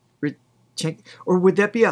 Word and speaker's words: Реченька: Rechenka? Rechenka. Or would that be a kh sound? Like Rechenka?